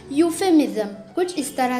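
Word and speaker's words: euphemism: यहाँ पर जो ई है वो है साइलेंट, इसलिए हम इसे पढ़ेंगे यूफेमिज्म।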